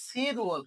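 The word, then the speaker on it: 칠월: তাহলে উচ্চারণটা খেয়াল করো, রিউল বাচ্চিনের ডান পাশে যদি ইয়ং থাকে, তাহলে রিউলের উচ্চারণটা কি? উপরে যায়া অন্তঃস্থ হয়। তাহলে সি রুয়াল। কি উচ্চারণ হবে? এই যে সি, এই ওয়ালটা উচ্চারণ হয়ে কি হবে? রুয়াল হয়ে যাবে।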